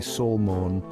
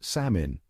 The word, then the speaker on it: salmon: Now, the problem with salmon is that it's got a silent L hanging out in there, just trying to blend in. And for some reason, people feel the need to give that L a voice. I'm talking about the folks who say salmon or salman. But here's the thing, that L is on a permanent vacation. The correct pronunciation is salmon.